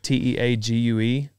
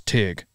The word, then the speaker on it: Teague: i'm gonna say humble teague t-e-a-g-u-e down teague texas no it's tigg okay well then spell it tig because i didn't play